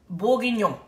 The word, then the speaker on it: bourguignon: It's actually pronounced beef bourguignon. Okay?